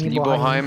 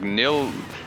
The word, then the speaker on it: Nibelheim: Hey, how do you think Cloud pronounced his hometown, huh? I kind of missed it. He calls it Nibelheim. Yeah, it's Nibelheim and Gongaga.